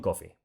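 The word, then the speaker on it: Coffey: nosotros se llama xiong coffee sí señor suena parecido a café pero no se escribe igual así que sabes leer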